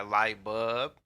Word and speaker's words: LIGHTBUB: man i go by light bulb i go by light bulb let them know what it is how you spell that man l-i-g-h-t b-u-b man no l man b-u-b man it's light bulb that's right and i